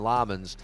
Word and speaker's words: Lammens: I say Lemons and they call him Lammens.